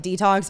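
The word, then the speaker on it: DeTalks: detox with allison and it's spelled d-e-t-a-l-k-s so like the word talking but to say it like detox because i'm kind of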